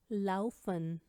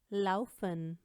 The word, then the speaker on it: laufen: अब हम बात करने लगे हैं आ ऊ और ए ऊ की। Zum Beispiel Auge, Auge, Haus, Haus, Au, na, Au, Laufen, Laufen, Aufgeben, Aufgeben, हार मान